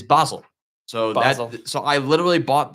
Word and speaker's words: Basel: you spell it but the club because it's pronounced in German is Basel so so I literally